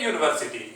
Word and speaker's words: university: He reads in a university. Here also you should mind university. There is a. It starts with U, which is a vowel, but its sound is consonant.